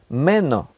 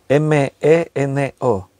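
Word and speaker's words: μένω: Esa palabra en el griego es meno, M-E-N-O, con acento en la E, meno.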